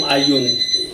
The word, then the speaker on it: Ayoun: I am from Ayoun. Okay. Oh yeah, how do you spell that?